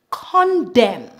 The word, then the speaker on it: condemn: normally at the N we remove the n and pronounce the m the m sound for example Autumn colum condemn Dam him Solem here